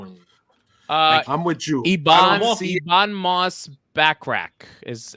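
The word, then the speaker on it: Moss-Bachrach: I want Pedro in uh I'm with youon moss backrack is how you say his name that's that's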